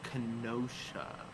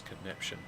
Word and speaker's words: Kenosha: okay it's brexit okay it's all brexit it's pronounced kenosha oh you're all right i'm sorry i thought it was connection oh yeah yeah yeah and uh yes i'm